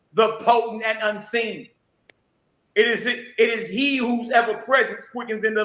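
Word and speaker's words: אִישׁ: Yahweh, Ish, Milkamah. Yahweh Shamo.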